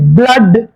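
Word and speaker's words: blood: வருகின்ற மூன்று சொற்கள் பி பி எல் டபுள் ஓடி பிளட் பி எல் டபுள் ஓடி ஒய் பிளடி எப் எல்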